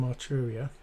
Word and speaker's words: Arturia: Let's load in I'm going to load in one of my favorite software synthesizers, which is the Jupiter 8 from Arturia. That's how you pronounce it.